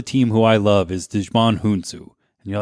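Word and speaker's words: Djimon Hounsou: who i love is dejman hunsu and you're like wow what alien was he no that's actually how you pronounce this actor's name he played korath but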